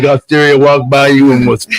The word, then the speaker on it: Osteria: it sound delicious instead of just calling it Osteria. But Osteria, Osteria. Like that is. It is. Go you country club. I know. You make it sound like Osteria walked by you and was on fire.